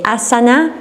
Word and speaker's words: asana: And then if you keep noticing that, you'll also hear some Indians say asana and asan. Anulom Vilom Pranayam or Anuloma Viloma Pranayam. So it's an accent thing. In the south, they pronounce the last vowel. In the north, they don't.